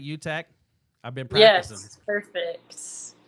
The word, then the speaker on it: Utecht: Utecht?